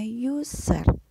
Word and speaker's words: user: disebutnya adalah user Oke tulisannya user ya tapi dibacanya yuser terus dikomputer ada juga